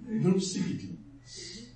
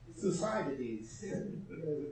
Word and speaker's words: Thucydides: people like Herodotus and shall I pronounce him in the English way or in the German way? Thucydides. Thucydides. They say. But we have been trained to say Thucydides.